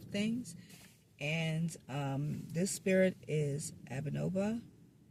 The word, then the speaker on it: Abnoba: and this spirit is Abnoba. Did I say that correctly, Malachi? You got it. You pronounced it perfectly.